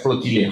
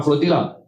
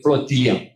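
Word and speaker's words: flotilla: Maka mereka berlayar dan melancarkan apa yang dipanggil sebagai flotilia. Sebab tu saya pronoun bukan flotila. Saya kredit kepada orang Spain dan orang Spain yang merancang. Maka dia dipanggil flotilia dalam pronunciation orang.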